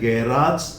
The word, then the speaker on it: garage: तो ये आप दोनों बोल सकते हैं, गैराज एंड गैरेज, आर्बिट्राज एंड आर्बिट्रेज। तो ये सब कुछ था about the pronunciation of AGE, means the words which end in AGE.